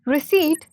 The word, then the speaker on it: receipt: Receipt, silent P.